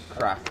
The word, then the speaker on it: craic: what is CR crack crack oh that's spelled differently uh what's the story with